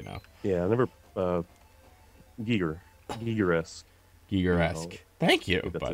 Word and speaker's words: Giger-esque: Giger-esque.